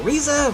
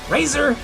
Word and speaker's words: Razor: a lot of people they they butcher up my name they'll say oh riza razor i've heard a number of things over the years what my name could be you know and how they say it out but it's actually razor razor's my real name um but you know